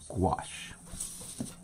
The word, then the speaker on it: gouache: And I'm about to go to gouache.